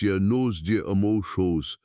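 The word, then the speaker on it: Llanos de Moxos: The region is called the Lanos Jimus, pronounced yos deos, a vast expanse of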